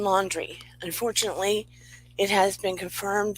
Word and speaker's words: Laundrie: potito case and the brian landry laundry sorry i'm mispronouncing it brian laundry unfortunately it has been